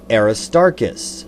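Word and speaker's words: Aristarchus: Aristarkus. I stress the middle syllable Aristarus because the sun is a star.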